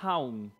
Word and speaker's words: Haun: Y ok, se pronuncia Haun, su Sí, nombre.